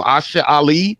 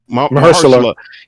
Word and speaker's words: Mahershala: Because y'all have to remember, I don't know how to pronounce his name, Asha Ali. Mahershala.